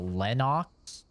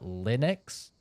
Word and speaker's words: Linux: Linux it's very similar it's not Lenox Lenox lenux depends how you're going to pronounce it I guess but Linux which sounds very similar